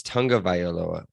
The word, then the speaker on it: Tonga Vioa: Would you take the rest of Tia Tag Tonga Vioa? That's how you say it. Bam. That's it. I listen to It's Tonga Violoa. That's what it is. Vioa. It's V Tonga Violoa.